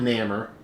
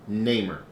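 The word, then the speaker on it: Namor: Not Namer. Neymar. That's how I pronounce it.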